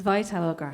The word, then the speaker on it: Vitalograph: And could I go to you, Maeve, because you said that even though, if I understand correctly, is it pronounced Vitalograph or Vitalograph? It's Vitalograph.